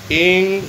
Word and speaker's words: ऐं: तो एक जब हम बोलते हैं महासरस्वती का बीज मंत्र है एंग, उसमें जो होम बिंदी है उसको नकार में बोलते हैं, ए एंग, ए नकार।